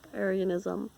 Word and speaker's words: Arianism: And so because he drew everyone in, they were able to discuss these matters like Arianism, that's how you pronounce it, and it helped figure out what the church really believed.